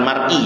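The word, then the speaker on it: مريء: saluran napas hulkum namanya, saluran makan mari, bukan mar'i ya, dibacanya mari, dan 2 urat nadi wadajadain, baik dengan gaya tarik atau gaya dorong.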